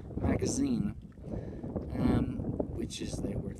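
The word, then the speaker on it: магазин: to the to the left of it it's pronounced magazine um which is they work for shop the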